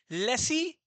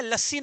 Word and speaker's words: laissez: Capitalist economy में dash देके लिखो profit motive, comma लेसी fair economy, लेसी fair, लेसी का फुल फॉर्म लिख दिया, स्पेलिंग लिख दिया हूं, LAISSEZ। लेसी है, लस्सी नहीं है, है ना?